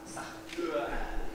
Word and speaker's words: Sartre: My name is pronounced Sartre.